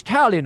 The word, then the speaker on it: Talion: You said the name wrong. It's Talion, I believe, is what you mean to say.